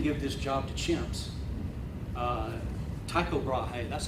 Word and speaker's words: Tycho Brahe: Tycho Brahe, that's how I say it.